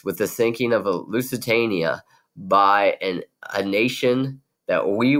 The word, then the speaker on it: Lusitania: It rhymes with Schmushmanchania. You're right. The Lusitania.